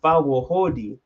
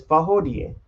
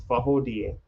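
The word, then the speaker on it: Fawohodie: So when you see Fawohodi, that's what I thought it was pronounced as. But after doing research, I found it's Fahodie. Fahodie. It's literally said so fast, it's just spoken as Fahodie, which is amazing.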